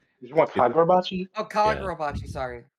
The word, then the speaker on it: Kagurabachi: Like, Gagarabot, like Gagaragachi, Bachi. Am I saying it right? Yeah. Yeah. No, you're You want not. Kagura? You want Kagurabachi? Oh, Yeah. Kagurabachi.